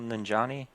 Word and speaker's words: Nanjiani: Oh yeah, Kumal Nanjiani.